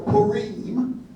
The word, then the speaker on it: Purim: It's called Purim, or Purim, the way it would be pronounced in Hebrew.